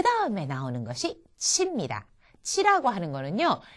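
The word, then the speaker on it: ち: 치라고 하는 거는요, 이 발음은 왜 이럴 때 있죠. 무슨 누가 이렇게 말도 안 되는 소리 같은 거 했을 때 치, 웃기고 있네. 이렇게 치 라고 콧방귀 낄 때 있잖아요. 그때 발음과 비슷합니다. 그러니까 이거를 치 하고 발음하지 마시고요. 치 하는 식으로 파열하도록 그냥 놔두시면 됩니다. 이게 치의 가장 일본인과 비슷한 발음이 되겠습니다.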